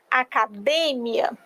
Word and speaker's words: academia: sobre isso por exemplo se em português eu digo academia em espanhol eu vou dizer acadêmia Então somente a sílaba tônica mudou de posição o significado é o